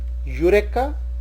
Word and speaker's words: eureka: Eureka, again first alphabet is e but starting with pronunciation u, and so a eureka moment.